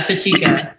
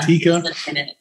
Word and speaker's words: Fatica: Speaking of people who just are who they are, am I pronouncing his name right? Justin Fatica. Oh gosh. Yeah. Fatica. Yeah. Fatica.